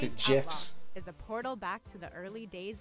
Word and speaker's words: GIFs: gifs animated mouse pointers and amazingly useful he pronounced it jiffs is a portal back to the early days